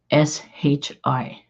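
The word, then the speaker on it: 死: And it says here, I don't know if I'll be able to say it, Shai, SHI. That's the word for death Asian, in Chinese, Japanese.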